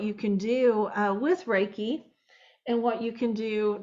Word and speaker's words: Reiki: soon so let's talk first about what is raiki raiki is spelled r e k i so let's break